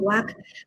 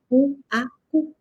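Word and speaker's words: UAQ: verdad Pero por favor no le digan wak porque no son de la Universidad Autónoma de Colombia ni tampoco de la Universidad Autónoma de Campeche son de la Universidad Autónoma de Querétaro y la pronunciación debe ser u a u Yo soy elzada de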